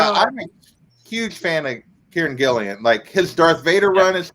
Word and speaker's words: Kieran Gillen: Kieran Gillen? Yep. Kieran Gillen.